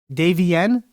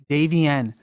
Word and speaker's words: Davienne: you so how do you actually say it Davey n Davey n so so that's how I found you and